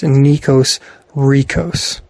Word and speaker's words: Nikos Rikos: You spell his name Nykos, and then his last name is Rikos, and it's pronounced Nikos Rikos. Because of course it rhymed.